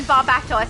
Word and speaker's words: Barbatos: David with the correct pronunciation, Barbatos.